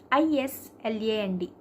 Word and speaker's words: island: letters of the word for example I land i s l a n d it is Iceland right by Island silent letters that is the reason and one more thing